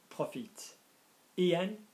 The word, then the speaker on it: profites-en: But if I said make the most of it, and I use the pronoun en, profites-en, that s would go back on.